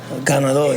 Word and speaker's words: Ganador: And how you pronounce it? El Ganador? Ganador, yeah.